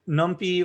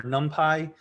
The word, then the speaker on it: NumPy: So NumPy or NumPy, So you hear it pronounced both ways.